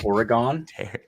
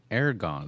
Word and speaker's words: Oregon: even the Foreigner gets it right Matt how Oregon yeah Aragorn wait who's who's pronouncing it Aragon or whatever oh yeah who would say Aragon